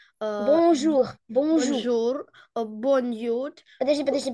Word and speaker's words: bonjour: У нас вот это bonjour. On, сейчас покажу. On, ой, извиняюсь. On идет в нос. Bon. И jour. У нас будет читаться как U.